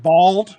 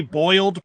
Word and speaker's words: boiled: who's in the south it's pronounced bald like you don't have any hair so it's bald peanuts if you say boiled peanuts they'll know you're